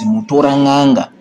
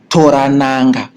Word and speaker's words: Mutoranhanga: this river is Mutoranhanga, they could not pronounce it because we have got some of the words that we pronounce very well that the British or other non-Zimbabwean natives try to pronounce. They failed to do it, so they tried to say Mutoranhanga, Mutora Nanga. So they end up saying Toranhanga.